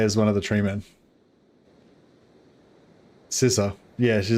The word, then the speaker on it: Sissa: Scissor. Yeah. She her name's like Scissors, but it's spelled Sissa because of all the Bretonians.